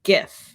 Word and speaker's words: GIF: It is pronounced GIF, and that's because it's an acronym. And the first word in that acronym is graphics, which you say G. So I say GIF.